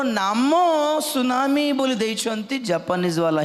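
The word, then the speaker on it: tsunami: सुनामी अत्यंत शक्तियुक्त बड़ समुद्र तरंग रो नाम सुनामी बोली देइछंती जापानीज वाला ही देइछंती। सेतमे टी रु स्टार्ट हुए, T silent सुनामी Japanese word था।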